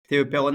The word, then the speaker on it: Théau Peronnin: So indeed, I'm Théau Peronnin.